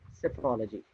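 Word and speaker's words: psephology: is topology cephalology and p is silent here cephology so we are left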